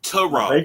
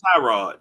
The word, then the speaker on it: Tyrod: And it's Tyrod, not Tyrod. Tyrod.